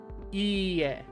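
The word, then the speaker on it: 家: Ie. It might be a little bit difficult to hear the difference. Ie, ie. This ie with a short e sound means a house, right?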